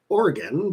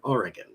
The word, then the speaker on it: Oregon: So I said, I am from a place that's pronounced Oregon, but I pronounce it Oregon.